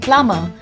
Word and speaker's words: plumber: now this is because the letter b in this word remains silent so we call him a plumber there are other examples